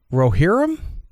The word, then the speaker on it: Rohirrim: Lord of the Rings: The War of Rohirrim.